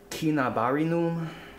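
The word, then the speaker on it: cinnabarinum: what this is uh kinabarinum you know i used to pronounce it so i read the classical latin um you always use a hard k sound for the c's there's no um like unicom the c sounded like a k so it should always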